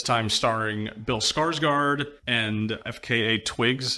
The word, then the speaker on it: FKA twigs: starring Bill Skarsgård and FKA Twigs. Is that how you pronounce her name? Yep. You just spell it out like that.